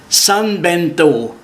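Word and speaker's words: São Bento: Si vous arrivez en train, vous serez d'abord ébloui par la gare San Bento, ça s'écrit S-A-O Bento, dont les murs sont ornés de grands azulejos, ces tuiles blanches et bleues caractéristiques du Portugal.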